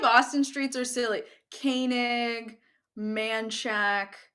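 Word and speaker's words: Manchaca: streets are silly koenig manchak manchak with an a at the end and then gua guadalupe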